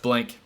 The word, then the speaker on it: Blanke: It's pronounced Blanke.